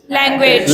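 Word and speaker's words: language: लैंग्वेज। लैंग्वेज। लैंग्वेज। ये लैंग्वेज नहीं होता, इसका जो प्रोनाउंसिएशन है वो है लैंग्वेज। विज का साउंड आ रहा है, बोलेंगे लैंग्वेज, लैंग्वेज, message, message, village.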